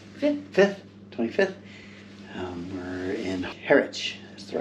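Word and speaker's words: Harwich: Um we're in Heritch, that's the right way to say it.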